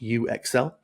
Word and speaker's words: UXL: so yeah that is a pun on user experience and excelling uh pronounced U Exel um this is a